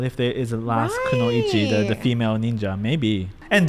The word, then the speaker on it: kunoichi: Kunoichi.